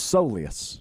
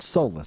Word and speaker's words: soleus: And turns out it's a soleus, not solus.